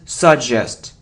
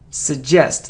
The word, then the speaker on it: suggest: last but not least so it isn't suggest and it isn't suggest it suggests like question like suggestion suggest a a suggest it